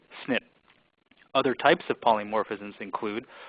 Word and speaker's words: SNP: One class of polymorphisms are the single nucleotide polymorphism, which is pronounced SNP.